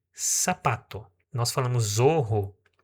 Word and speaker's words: zapato: A palavra sapato, ela é escrita com a letra Z. Você não vai ler zapato, você vai ler sapato.